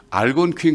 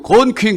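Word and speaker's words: Algonquin: 난 분명히 알곤퀸 그러는데 이 사람은 알곤퀸 그러면 안 돼. 알을 거의 발음하지 말아야 돼. 그냥 차라리 알 빼고 곤퀸 그러면 알아들었을 거야 아마.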